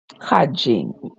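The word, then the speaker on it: cadging: n g let me see what it means pronounced hajjing that is ask for or obtain something to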